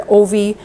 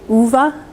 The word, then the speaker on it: Ove: Man Called Ove, and I've heard Ovi, and we looked it up, and because it's Swedish, it's actually Uva, so there we go, we've got a little lesson in pronunciation.